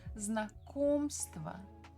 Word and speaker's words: Знакомство: We stress second syllable. Знакомство.